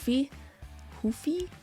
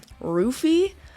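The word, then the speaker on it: Ruffy: King green and Mauricio UI look I've been pronouncing his name Mauricio UI Hui since like he entered the UFC but because I heard his name pronounced ruy this whole week I just like don't even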